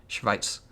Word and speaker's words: Schweiz: Yeah, I don't think the Z is pronounced Z in German. It's like tss, it's like that. Schweiz.